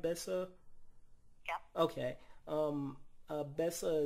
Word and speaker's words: Besa: research and I read that um am I pronouncing it right Bessa yeah okay um uh Bessa is apparently a